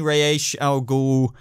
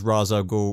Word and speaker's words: Ra's al Ghul: she wasn't really like that but it's definitely ray H al Ghul and yes by the way I know there's Ra's al Ghul ratio go ray a showgirl I'm just deciding